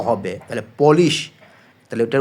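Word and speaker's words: polis: এটা উচ্চারণটা কি? পুলিশ। তবে এখানে মনে রাখ পি উ দিয়া পু না হয়ে প হবে। তাহলে পলিশ।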